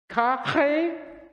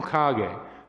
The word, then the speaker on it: Kage: Is it pronounced Kache? That'd be a J. Uncle Kake. Una Kache. We'll be handing things over to Uncle Kage next, which will be a great time.